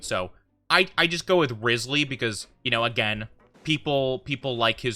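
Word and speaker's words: Wriothesley: Like, some people say Risley, others say Rotsley, and some people say Riosley.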